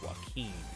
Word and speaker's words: Joaquin: a joaquin phoenix is how you say it joaquin uh should i watch the movie candyland i